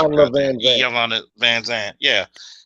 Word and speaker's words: Iyanla: Man, yeah, that was Ilyana Van Zant shit. Ilvana. I can't pronounce her Iyanla goddamn. Van Zant. Iyanla Van Zant.